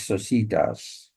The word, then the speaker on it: societas: Some people say the the Latin pronunciation of societas is societas, and I think that is correct. So we'll stick to societas.